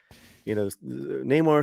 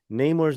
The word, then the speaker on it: Namor: In a recent clip from the film series, Huerta pronouncing Namor's name Namor rather than the typical pronunciation of Namor.